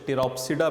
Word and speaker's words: Pteropsida: हैं वर्ल्ड के अंदर, कुछ इसको टीरोसाइडा बोलते हैं, कुछ पी को साइलेंट जो करते हैं वो इसको टीरोसाइडा बोलते हैं, कुछ टीरोप्सिडा बोलते हैं इसको, ठीक है। सो it depends upon the accents, ये दोनों ही ठीक हैं।